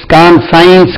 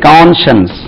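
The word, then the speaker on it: conscience: உச்சரிப்பு வந்து தமிழ்ல எழுதுறேன், கான்ஷன்ஸ், கான்ஷன்ஸ், கான்ஷன்ஸ். இது கான் சொல்லாதீங்க, கான்ஷன்ஸ், கான்ஷன்ஸ், மனசாட்சி.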